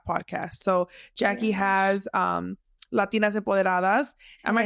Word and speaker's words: Empoderadas: So Jackie has Latinas Empoderadas. Am I saying it right? Yeah. Latinas Empoderadas.